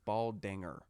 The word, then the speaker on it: Baldinger: love doctor it's between like him and brian baldinger man i'm just like taking both literally give him my helmet let's go can you say his name right it's bald dinger dinger ding what did i say danger danger